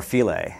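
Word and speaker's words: Philae: and uh uh you know Landing site or filet actually so you'd have to spell that p-h-i-l-a-e um uh that that should get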